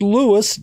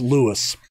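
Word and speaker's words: Lewes: team name because it looks like louis luz or luez but it's actually pronounced lewis never let it be said i don't try to educate myself i went on google and i did a google pronunciation and it's l-e-w-e-s and that's lewis not in my country but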